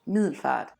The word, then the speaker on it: Middelfart: This time around I went to a nearby town called Milford, and it is spelled Middelfart. That is the actual name of the city.